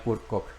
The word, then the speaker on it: Kurt Koch: koch en español yo creo que es la pronunciación correcta es el cardenal kurt koch pasamos a la siguiente ahora veamos un poco